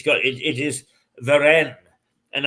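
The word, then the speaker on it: Warenne: it's got it is veren and I think the W is pronounced as a v indeed it is way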